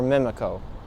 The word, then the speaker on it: Mimico: Lakeshore in the easternmost corner of mamiko or mimiko as some people like to pronounce it let's continue foreign So